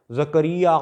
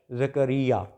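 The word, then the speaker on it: Zechariah: पैदा होती है उस जात का नाम है जकरिया अलैहि सलाम तो जकरिया के ऊपर जकरिया अलैहि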